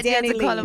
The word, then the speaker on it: DaniLeigh: DaniLeigh. Pronunciation. My middle name is Leigh, and everybody Okay. just call me Danny, so I just put it together.